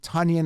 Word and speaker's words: Tonyan: number 10 here finished third last year robert tanyan it's he pronounced it tonian i don't see how he gets that but